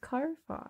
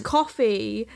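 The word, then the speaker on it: Ko-fi: it is it pronounced I thought it was pronounced Kofi Kofi coffee that makes yeah because um yeah but buy me a coffee is another but it is coffee because there the logos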